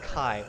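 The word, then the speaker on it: kaj: j sound uh sorry the J in espiro is a y sound so it's k a j k a j i probably really bad I will put it down the bottom just so you guys know I'm just going to grab this Burning thing so K AJ Kai so how would you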